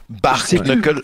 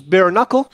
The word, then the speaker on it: bare knuckle: un suffisamment haut niveau, tu sais que ça se prononce bare knuckle, mais tu dis bar knuckle parce qu'à un moment donné, que tout le monde allait se faire foutre, tu sais.